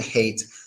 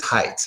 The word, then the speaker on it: height: the Odyssey now understand this isn't hate this is height height in Russian I